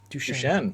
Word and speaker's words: Duchenne: muscular dystrophy but uh how do you pronounce duchenne shame duchene yeah okay yeah and